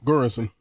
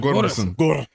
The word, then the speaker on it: Göransson: Göransson. Ludwig Göransson. There you go. No, that O got like a go in it. Göransson.